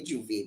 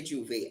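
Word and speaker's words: J'ouvert: Now if you look for it, it's Jouvert. So pronouncing it properly, you wouldn't say Juve, but Trini way to say it, we say Juve.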